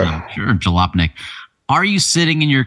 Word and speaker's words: Jalopnik: So this was an interesting article we have a link to from Jalopnik. Is that how you pronounce that? Jalopnik? I believe so. Yeah, sure, Jalopnik.